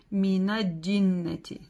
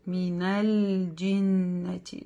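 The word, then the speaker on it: مِنَ الْجِنَّةِ: И тоже иногда ошибаются, говорят «минадиннати». Нет, «минальдиннати». Да, «джим» не удваивается, она читается с касрой, себе одна «джим».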